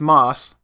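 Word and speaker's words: ます: with moss which is pronounced similar to the green stuff that grows on rocks and trees when you see a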